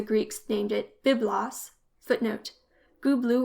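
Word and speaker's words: Gubla: named it bias footnote goblu or gubli is the pronunciation indicated for this name in the tel L Amara tablets the Egyptians transcribed it kpuna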